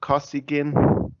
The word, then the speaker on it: Kosygin: Let me ask your opinion about and also correct my Russian pronunciation. Brezhnev Kosygin.